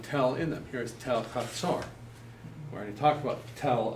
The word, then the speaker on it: Hazor: One of the most important Old Testament cities is this one, pronounced Hazor. Most people say Hazor, but Hazor, and there is a tell there.